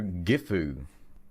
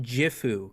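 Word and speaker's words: Gifu: Um let's go to GEU. That sounds nice. It's pronounced jifu.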